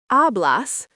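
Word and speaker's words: hablas: Ablas pronounced ablas means you speak.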